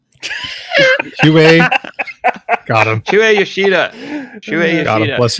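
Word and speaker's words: Shuhei Yoshida: Shuei Yoshida.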